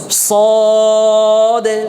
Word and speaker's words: صاد: হয়ে গেলো মিলে গেল এজন্য صদ কি হবে না ঠোঁট গোল হবে একটু ইয়াতে ঠোঁট যেন কি না হয় মেলে না হয় হ্যাঁ মেলা হবে না ঠোঁটটা কি হবে একটু গোল হবে صاد صاد فا فا سین